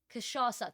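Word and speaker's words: cachaça: Like because I've been importing stuff like I imported like proper Brazilian chas uh chas chisasa kashasa that's the one kashasa that's how it's pronounced um so like I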